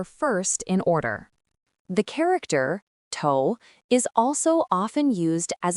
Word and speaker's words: 头: Tou is a simplified Chinese character.